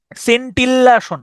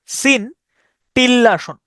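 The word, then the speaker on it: scintillation: এটি আই ও এন সিনটিলাসন আমি এভাবে উচ্চারণ করতাম এস সিন্টি সিন্টিললাসন আমি এভাবে উচ্চারণ করতাম সিনটিলাশন সিন্টিলেশন সিন্টিলেশন মানে হচ্ছে দেখবেন ওই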